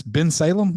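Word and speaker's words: Bensalem: And it's Ben Salem. Is that how I pronounce the name of the town? That's how you would pronounce it, but it's Southampton currently.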